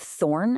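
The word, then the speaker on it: þ: First, we have thorn and f, both of which represented the sus sound, like in this or that.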